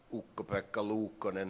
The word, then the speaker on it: Ukko-Pekka Luukkonen: I think the best season Ukko-Pekka Luukkonen has ever had. Now you get the right pronunciation of it.